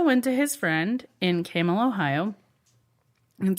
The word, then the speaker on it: Campbell: east side of Youngstown, spelled Campbell, pronounced Camel. Don't call it Campbell. Don't call it Campbell. They'll beat you up. It's Camel.